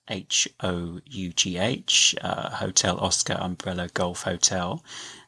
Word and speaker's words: Hough: So just to clear things up, the pronunciation is as it would be with a T on the front. So it's tough or rough.